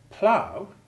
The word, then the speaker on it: plough: In the word plough, it has the sound of W, which indeed is how the Americans spell it.